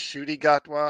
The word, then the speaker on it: Ncuti Gatwa: so uh doctor and I believe it's pronounced I've heard it pronounced shy gatwa I honestly don't know if that's entirely right but that's why I'm